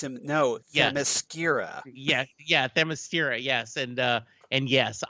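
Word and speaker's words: Themyscira: no yeah yeah yeah thermostira yes and uh and yes i i love that but he pronounced it as the mascara yeah the mascara and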